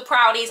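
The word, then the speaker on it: Proudie: Prudie they might be called the proud ease I don't know I've always called them the prudie's in my head so I'm gonna call them the prudie's but it is spelt proud in my head Prudie sounds more like a name anyway we start off with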